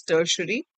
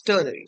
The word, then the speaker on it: ternary: Few people pronounce it as tertiary, but yeah, it's ternary.